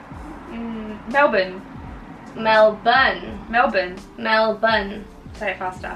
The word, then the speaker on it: Melbourne: again now born I said the same thing Mal bone Melbourne Melbourne Melbourne Melbourne very faster Melbourne Melbourne Melbourne